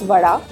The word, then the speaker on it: vada: bada stands for that bada is the way they pronounce Vada and you have to